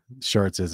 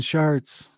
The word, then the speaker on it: Chartres: Stop saying Chartres. It was so intimate and unlike anything we had seen and I have seen ever. By the way, it's not spelled S-H-A-R-T. It's spelled C-H-A-R-T-E-S. It's a French word, I believe.